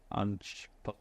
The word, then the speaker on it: Ange: I think he's called Ange. Perfect, yeah, perfect pronunciation.